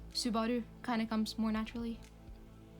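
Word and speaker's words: スバル: video is it weird if i say his name like subaru i feel like all american people are likes to borrow but um i speak norwegian a lot since i live in norway so subaru kind of comes more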